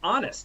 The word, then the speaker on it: honest: Armin brought up honest, and honest is definitely true. You do usually say it's an honest truth. An honest truth. Honest. Because you don't really pronounce the H in honest.